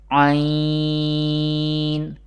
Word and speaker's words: ع: Ain and Ha, pronounced from the middle part of the throat.